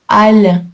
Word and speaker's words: halle: Alors que al avec un e se prononce al avec le son a comme balle, une balle de tennis.